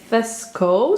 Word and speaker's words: VSCO: pronounce this correctly but it's vesco so vsco and i always call it fast car but I think it sounds the name is very different but yeah in case